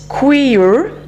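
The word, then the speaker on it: Quaoar: Then we've got Kuiper, which is spelled Q-U-A-O-A-R, and that's a North American creator spirit.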